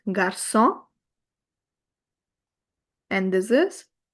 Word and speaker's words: garçon: The major function is to convert the k sound to the soft s sound of c. So, here, it will be pronounced as garçon.